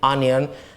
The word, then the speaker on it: onion: be careful with um words written with o right but are pronounced with ah like for example sun nothing onion and then words like